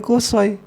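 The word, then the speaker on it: قصي: ini itu anak dari kosoy siapa kosoy ini cara baca kosai ini dengan dhomah dan patah shot kalau malah dan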